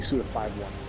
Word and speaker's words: Suda51: why I love suda51 well technically suda51 that's how you're supposed to pronounce it I found out yeah